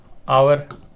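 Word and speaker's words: hour: पहला letter silent बना रहेगा, सेकंड लेटर की साउंड के कारण वोवल होगी और वोवल होने के कारण हम एन का प्रयोग करेंगे। इसको क्या कहेंगे? आवर।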